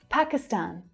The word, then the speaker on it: Pakistan: But you'll hear a strong first syllable and the main third syllable stressed.